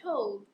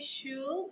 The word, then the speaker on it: should: The same in the case of should. We don't say should and we don't pronounce the letter L.